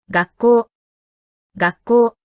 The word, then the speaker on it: 学校: 따라서 여기서 가꾸가 카행의 음절인 큐, 코어와 접속할 때의 발음은 가꾸가 아닌 가시 됩니다. 学級、学級、学校、学校。